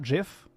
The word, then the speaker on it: GIF: right if they're like it's GIF not GIF how about you just call it gif then instead of GIF whatever oh Merl is